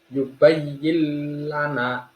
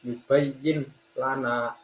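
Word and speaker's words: يبين لنا: Yang pertama adalah yubayyil lana. Diperhatikan nun sukunnya tidak dibaca, bukan yubayyin lana, tapi langsung masuk ke huruf lam. Yubayyil lana.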